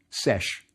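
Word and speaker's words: sš: I'll tell you how it's pronounced. Sesh.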